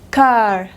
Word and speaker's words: car: Car, inglés americano, inglés británico, car, car. Se queda en la A larga, pero no pronuncia la R.